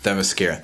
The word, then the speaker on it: Themyscira: I felt like they really brought you into the world, both the early era, the current era, and how do you pronounce it? Themyscira.